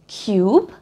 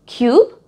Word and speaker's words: cube: जैसे कि क्यूब, CUBE, क्यूब, और ट्यून, TUNE, ट्यून। इन शब्दों में यू बीच में है और क्योंकि ई एंड में है तो इसके स्वर का उच्चार होगा यू।